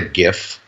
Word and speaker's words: GIF: Let's call it a GIF, just because I like, the hard G is funny.